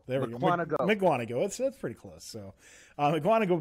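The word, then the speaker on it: Mukwonago: PJ, how do you pronounce this city? Miquango. There we go. Miquango.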